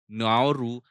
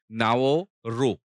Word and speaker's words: Nauru: of changing the name the reason was basically pronunciation by the indigenous people the indigenous people did not pronoun it एज़ नाउरू they pronoun it एज़ नाओ रो सो, keeping in mind the indigenous people and